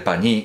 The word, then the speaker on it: pañí: María, la vieja de Jesús, se coscó de que la cosa solo iba a ir de pañí, aquí se lleva tilde, solo iba a ir de pañí y de aceitunas.